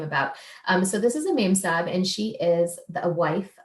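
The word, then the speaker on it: memsahib: I think it's like the British word ma'am combined with sahib, which is a Hindi word of respect.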